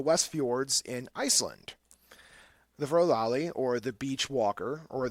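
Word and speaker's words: Fjörulalli: And it is not, the Icelandic language is not phonetic. Not going to even pronounce it. I am not, no. I could tell you it's Fjorulalli. It's close to that.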